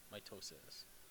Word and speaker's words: mitosis: division and mitosis know what proper way to say it is my toes sense mitosis so it's like you hurt your toe and then your sister says what's wrong you say mitosis right okay that's it